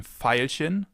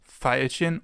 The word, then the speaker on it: Veilchen: It can either be pronounced like the F, as in Veilchen, Veilchen, or like a V, as in Violine, Violine, violin.